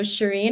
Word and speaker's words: Shirin: So, Shireen is actually a Persian name.